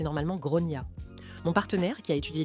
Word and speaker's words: Gráinne: Alors, je précise en Irlande, on prononce normalement Grain comme Gronia.